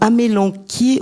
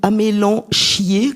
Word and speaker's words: amélanchier: c'est un nom masculin alors dit-on amélanquier ou amélanchierier comme j'ai entendu certains le prononcer c'est pas beau ça amélan chier ça avec qui on est en fait Dominique avec chi on est Fabien donc c'est amélan quiier a M e accent